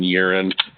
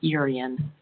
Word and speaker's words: Yerin: motion to hire Emerson Yerin for the quote of $1,209 and $98, but to allocate $1,500 in case there's some unforeseen expenses. Yeah, one hours. Second. And his name, it's pronounced Urian, Thank you.